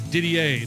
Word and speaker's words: Didier: That's Didier, but it's spelled D-I-D-I-E-R.